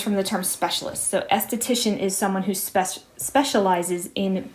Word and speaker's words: esthetician: in the textbook, is esthetician. And be careful the spelling here. It's ESTHETICIAN. ESTHETICIAN. I have to double check that spelling myself. Esthetician, tricky to pronounce as well. That comes from the term beauty, the Greek